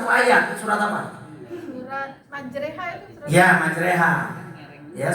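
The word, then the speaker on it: مجريها: Di sini kita bacanya harus wa qala rkabu fiha bismillahi majreha wa mursaha. Gak boleh dibaca majroha, salah.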